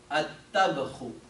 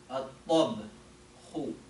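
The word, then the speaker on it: الطبخ: You say at-tabkhu. At-tabkhu.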